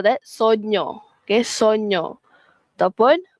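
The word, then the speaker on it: sogno: Sonyo bunyinya sono. Sonyo is dream or mimpi. Ok. If you dreamt about something you call that Sonyo.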